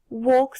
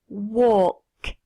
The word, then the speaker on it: walk: grass m the lawn walk the dog tu remarques que le l ne se prononce pas walk the dog feed the